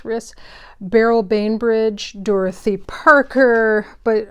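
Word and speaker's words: Rhys: Elizabeth Bowen Jean Jean riss I think it's pronounced riss barl Banbridge Dorothy Parker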